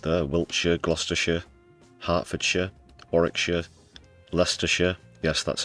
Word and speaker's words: Leicester: Wiltshire, Glousters, Hertfordshire, Warikshire, Lester. Yes, that's how you pronounce it.